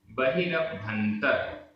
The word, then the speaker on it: बहिरभ्यंतर: बहिरभ्यंतर, बहिरभ्यंतर गंथ, गंथ विमुक्को, विमुक्को, बहिरभ्यंतर गंथ विमुक्को। ये पूरा एक समासित पद है। बहिरभ्यंतर में आधा ब और भा, बहिरभ्यंतर गंथ विमुक्को, आधा का पूरा का।